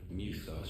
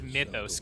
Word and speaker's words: Mythos: flame burned bright soon mithos shall become our perfect vessel it bothers me that he can't pronounce Mythos correctly he calls it